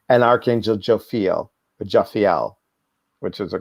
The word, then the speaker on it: Jophiel: I'm going to pronounce this wrong, and Archangel Jophiel, which is a correct pronunciation.